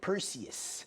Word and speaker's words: Perseus: All right, that's how you say it, Perseus.